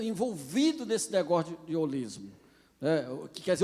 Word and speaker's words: holismo: Na verdade, a pronúncia grega é rolismo. Tem uma aspiração áspera, o espírito forte que a gente chama, né? Holismo. Mas em português, infelizmente, o H é mudo, a gente chama holismo.